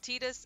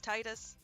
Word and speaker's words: Tidus: i'd like to because titus i don't care other games come tidus i don't care he's titus just like how it's zidane not zadane looking at you thanks to